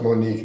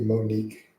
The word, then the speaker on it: Monique: Okay, so by the way, name is pronounced Monique, not okay. All right, it'll be Monique.